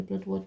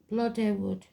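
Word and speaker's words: Blodeuwedd: It's not really Bloodwood, that's just the way I say it. It's Bloodywood.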